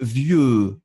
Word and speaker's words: vieux: Faites bien le E comme un E. Vieux. Vieux.